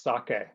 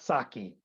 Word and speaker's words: sake: one is of course the pronunciation and that's sake uh not sake somehow when I hear saki I I wince yeah well you're gonna